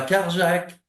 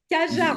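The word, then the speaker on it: Cajarc: Et puis euh et puis ce ce cette magnifique rencontre à Carjac à Cajar ou à Cajar comment on dit ? Cajar on dit.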